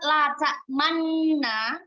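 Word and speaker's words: لا تأمنا: Maka membacanya bagaimana? Latak mana. Ada gerakan untuk stay di bibir sini, kemudian maju, kemudian stay lagi.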